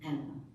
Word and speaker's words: Anne: Analise Marie was born now her name was soon shortened to an as we know her but they would have pronounced in the Continental way of Anna so little Anna was